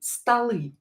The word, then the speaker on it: столы: First will be столы. Столы are tables. Столы. So here this O is not stressed. I pronounce it as A because it's not stressed, but it is in a weak position.